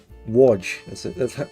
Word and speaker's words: Łódź: Łódź. That's how that one's pronounced.